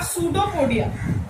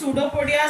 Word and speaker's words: pseudopodia: What is pseudopodia? Pseudopodia means false legs. Actually, the word pseudo means false. P is silent here.